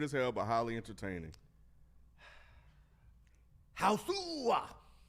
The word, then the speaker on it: Hausu: Hausu. That's what it's That's how it's spelled. Is that how you say it? Uh that's how it's said in in in Japanese. I think I'm pretty sure cuz it's spelled h a h a u s u. And I And during the the trailer it says Hausu.